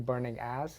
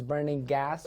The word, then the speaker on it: Burning Gas: I've been told to pronounce it the gas because apparently it sounded like I was saying burning ass. So it's definitely not burning ass. It's Burning Gas podcast.